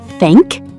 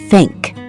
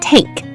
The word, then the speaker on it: thank: The word thank, let your tongue touch your top teeth. Blow a little air. Thank. Thank. Not tank.